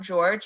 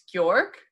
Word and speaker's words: Georg: It's not George, it's Georg? Georg.